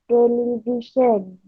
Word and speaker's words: television: ibu lagi My Mom's television television sebutan yang betul etele bukan teli kalau teliti Ii diit